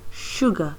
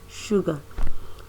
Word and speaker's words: sugar: of the word sugar sugar is pronounced as s u g r a but this pronunciation is sugar even though there is no sha there but the sound is sugar also when we look